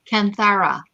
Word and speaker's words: Kanthara: Kanthara. Yes. It's written in the description because I know how to spell it better than I can say it, because I've been typing it a few times.